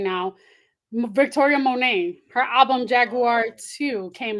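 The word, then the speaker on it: Monét: you always correct me this is Victoria mon not J mon no scissor scissor did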